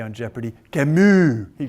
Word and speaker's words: Camus: Simone de Beauvoir over here, and Camus. As Alex Trebek likes to say on Jeopardy, Camus. He pronounced, have you ever noticed Alex Trebek?